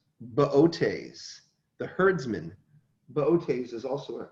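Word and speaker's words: Boötes: think you say that it looks like booties but it's there's an out there it's pronounced botes the herdsman botes is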